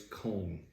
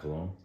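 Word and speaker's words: Köln: it's spelled Cologne Germany but it's cone it's not cologne hey everyone I'm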